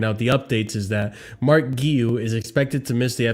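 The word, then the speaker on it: Marc Guiu: Then on Mark Guiu. Oh, man, I got to play this video for myself. Mark Guiu. Yeah, I fucked that up. Hey Blues, this is how to say my name, Mark Guiu.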